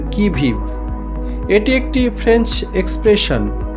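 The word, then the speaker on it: qui vive: Number 2, অন দ্য কি ভিভ। QUI এর you silent থাকে এবং VIVE এর ই সাইলেন্ট থাকে। আমাদের প্রনাউন্সিয়েশনটা করতে হবে কি ভিভ।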